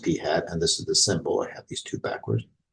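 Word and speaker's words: p̂: Well, in fact, it's pronounced p hat, and this is the symbol.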